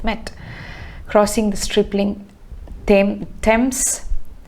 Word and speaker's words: Thames: summer nights have met crossing the strippling theme thames t-h-a-m-e-s thames is actually pronounced as stems okay it's easy to mistake